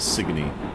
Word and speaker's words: Sigourney: Street by the way is actually spelled sigourney but nobody says it that way it's one of those weird colloquialisms everybody from Hartford adamantly insists that it is pronounced signe and hitting the speed